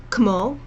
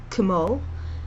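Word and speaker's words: כמו: And the same with the word kmo, kmo, and the same with words like katanim. So make sure you pronounce both the K and the T, and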